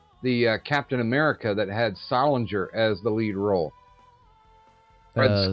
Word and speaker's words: Salinger: Yeah, Salinger.